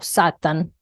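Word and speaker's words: שטן: esta palabra se origina del hebreo satán o satan y es transliterada como satán se pronuncia satan con la San y significa adversario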